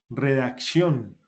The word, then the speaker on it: redacción: Vea, aquí hay una palabra aguda, redacción. Tiene la tilde en la última sílaba y se le marca porque termina en N.